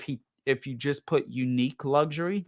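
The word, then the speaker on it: Unique': with the brand unique or unique it's like u n i q u e and then it has an apostrophe for uh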